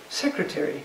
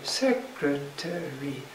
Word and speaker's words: secretary: Another one is secretary, secretary, secretary. 4 syllables, like this, stressed on the first, secretary.